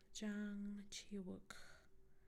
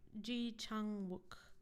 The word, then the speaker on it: Ji Chang-wook: dramas that have, I don't know how to pronounce his name, but the most paid actor in Korea. Wait, Jang Chi-wook. Jang Chi Ji Chang-wook.